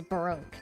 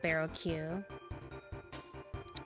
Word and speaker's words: Baroque: But it's Baroque, not Baroque.